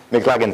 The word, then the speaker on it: McLagan: Il y a Paul Bossé, Georgette Leblanc et Christian Roy qui tiennent une conférence dans la salle 53 de I'll mispronounce that name, McLagan Hall? McLagan, thank you.